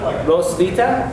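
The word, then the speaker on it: Roswitha: it's easy to see the W is a v sound and the t is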